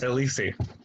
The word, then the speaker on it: ellisi: If your name was Elisi, that would be your fossil. It doesn't sound like Ellis to me, Ellis. I don't know. Well, Ellis is in the thing, but the Latin pronunciation, it becomes Elisi.